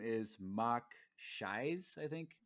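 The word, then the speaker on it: Mok Shaiz: the mayor's name is Mock Shies, I think it's pronounced. Bless you. Thank you. Does that name mean anything in the EU? Not that I Mock. know of. MOK and then SHAIZ, Shies.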